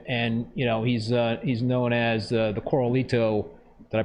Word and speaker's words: Koralito: So I know a lot of folks know Rocky from Instagram, and he's known as the Coralito. Did I pronounce that right, Rocky?